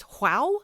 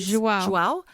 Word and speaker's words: João: João Martins? João.